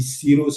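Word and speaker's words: cirrhose: Faut savoir lorsqu'on dit sirose ce que ça veut dire sirose ça s'écrit c'est ce que vous voyez là à l'écran C I2 RH O sirose.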